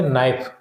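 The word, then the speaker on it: knife: H silent ठीक है नो नो में के साइलेंट है ठीक है इसी तरीके से नाइफ नाइफ तो हो चुका है ऊपर भी नाइफ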